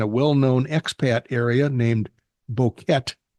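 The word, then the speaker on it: Boquete: well-known expat area named boket Bo boka is the way he did the uh pronunciation it's an idilic part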